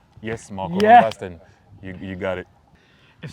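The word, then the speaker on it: Marco van Basten: Marco Vanbastian.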